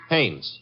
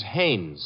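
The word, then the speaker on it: Haines: I what did you say his name is hannes h a i n e s oh oh haes yeah do you know him as your fellow Nam Hines used to fish out no no not Hines hannes couldn't Huntingburg no it couldn't be the name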